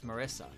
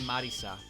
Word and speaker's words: Marisa: So whenever I say Marissa, I say it as Marissa because it's an English name. But if I say her full name in Japanese order, I'll say Kirisami Marisa.